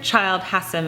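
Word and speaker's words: Childe Hassam: Frederick Child Hussam and I did look up how you pronounce his name because it's a bit confusing Frederic child has him and he was known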